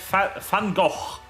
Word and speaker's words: Van Gogh: I'm like Van Gogh. That's how you pronounce that.